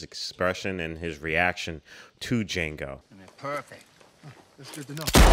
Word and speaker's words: Django: Django, you black son of a bitch. The D is silent here, baby.